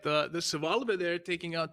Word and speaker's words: Schwalbe: No, it's Schwalbe. Schwalbe. You really pronounce the E at the end, yeah.